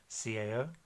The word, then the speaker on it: cao: Alright, so C is kind of like a TS sound, almost like the Z, so it's, if we take the syllable cao, C-A-O, cao, cao, kind of like a soft T, cao.